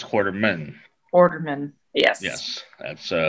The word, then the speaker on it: Quarterman: uh she's very funny and very interesting quarterman hello thank you for having me did i pronounce the last name right quarterman yeah perfect it's not like allen quartermaine it's quarterman orderman yes yes that's uh that is i